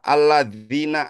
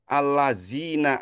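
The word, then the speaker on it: الَّذِينَ: Jika ada kesalahan, misalnya huruf misalnya alladzina amanu dibacanya allazina amanu.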